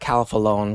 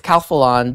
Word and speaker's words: Calphalon: I was like Calphalon because in my head it's Spanish. It's phonetically, I was about to say, but it's Calphalon, the Calphalon Temp IQ Espresso Temperature Machine.